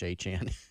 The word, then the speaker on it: Achane: And Devon Achane, who played at A&M, now with Miami Dolphins. Apparently his name is actually pronounced exactly like Travis Etienne / Achan.